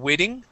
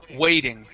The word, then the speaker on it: waiting: is waiting okay um here you would used a short I sound saying waiting okay it is a long a way waiting we waiting waiting waiting